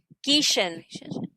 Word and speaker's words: Gieschen: Gishan.